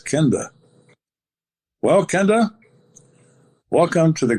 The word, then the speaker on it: Kenda: I said, "It's Kenda."